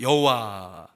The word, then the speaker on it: 여호와: 히브리어로 이 하나님의 이름을 여호와 또는 야훼 이렇게 발음을 합니다. 근데 이 발음은 사실 정확한 발음이 아니에요. 이 정확한 발음은 아무도 모릅니다. 왜냐하면 유대인들이 그 하나님의 이름이 너무나도 영광스럽기 때문에 함부로 발음을 하지 않기 위해서 그 이름 원래 그 오리지널한 발음에 아도나이의 그 원래 자음이거든요. 그 자음에 아도나이의 모음을 붙여갖고 여호와 또는 야훼라고 발음을 한 겁니다.